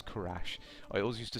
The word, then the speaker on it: Kerrash: of people were uh pronouncing my name Kesh I think but that is that is an a it is Kash I always used to